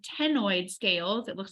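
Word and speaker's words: ctenoid: darters have are called tenoid scales it looks like a c it starts with a C but we pronounce it tenoid scales so simply meaning when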